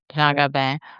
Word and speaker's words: Jean Gabin: Jean Gabin, or right? Is that Mhm. Jean Gabin.